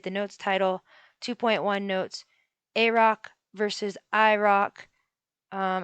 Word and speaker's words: AROC: notes title 2.1 notes a rock versus iroc um i'm going to be pronouncing a roc a rock and then i roc rock so 2.1